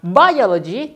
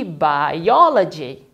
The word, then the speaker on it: biology: Karena dia berakhiran dengan GY, penekanannya di suku kata ketiga dari belakang. 1, 2, 3. Nah, kita tekankan di O-nya. Jadi, bukan biology, tapi biology. Begitu.